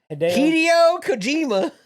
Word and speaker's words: Hideo Kojima: Just say it like a normal person. Kojima-san. Hideo Kojima. There you go. Better. You're trying to put an accent on it.